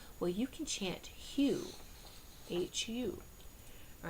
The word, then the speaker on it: HU: you you just their website will be listed Hugh it's a love song to God all right we've heard of M People chanting M well you can chant Hugh hu all right but we pronounce it like